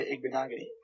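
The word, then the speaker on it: Igbinoghene: I will pick Noah Igbenogany.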